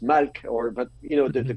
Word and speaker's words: melech: We don't know if it was pronounced like now in modern Hebrew you would say melech, but maybe it was pronounced malk, or but you know the consonants are the same.